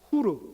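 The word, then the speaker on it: Hur: 벤허는, 벤은 아들, son이라는 뜻이고, 영어로 헐이라고 발음하는 것은 원래 히브리어로는 후르 혹은 훌입니다.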